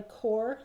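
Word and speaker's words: Qor: And I also use Watercolor by Core. That's spelled Q-O-R, and that's made by Golden.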